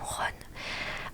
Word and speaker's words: Ron: Je profite de cette petite pause pour repréciser en effet que je prononce mal le nom de Ron qui se prononce normalement Ron.